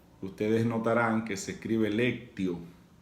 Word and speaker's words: Lectio: Ustedes notarán que se escribe lectio. En latín, la T se pronuncia como si fuera la C de casa. Por eso, Lectio Divina, como si fuera una doble C.